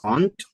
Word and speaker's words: aunt: aunt aunt yes exactly it's the same mom sister aunt and a small insect Aunt yes sometimes we try to pronounce it it's good to know the homophones guys because sometimes we try to give a different pronunciation right but now it's exactly the same another that is homophone